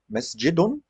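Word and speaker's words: مسجدٌ: so muhammadan muhammadun muhammadin so if you have masjid mesjidun okay this is how it pronounces it pronounces like masjid but it it's not written so the noon is not written so the tanween sounds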